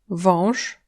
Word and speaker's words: wąż: On, wąż, Serpent, en, męski. masculin. Le A avec un ogonek n'est pas un A mais en fait un O nasal.